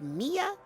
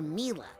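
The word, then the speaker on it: Milla: Is it pronounced Mia or Mila? Well, it's short for Camila, you know.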